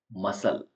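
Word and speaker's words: muscle: silent है ऐसा spelling मसल मसल यहां पर सी साइलेंट है एम ए एस य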